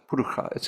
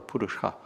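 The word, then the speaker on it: पुरुष: Purukha. It can be pronounced purukha or purusha in Sanskrit.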